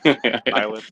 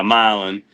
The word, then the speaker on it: Milan: I mean, you know, we're going to go run the IH this weekend in Milan or however they pronounce that name. Milin. Yeah. Yeah. Milin.